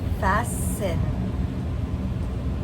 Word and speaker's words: fasten: Now we see the word fast that has nothing to do with the word fast and then the T is silent.